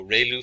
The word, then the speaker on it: ReLU: function we have the relu it's pronounced like ray the from the sun and loo like a name so relu function and we have